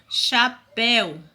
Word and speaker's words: chapéu: Mas quando eu pronuncio pastel, chapéu, o som é de qual letra? O som é da letra U.